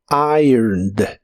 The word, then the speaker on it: ironed: con e d y de estas dos letras solo se pronuncia la d ironed ironed en el pasado lo puedes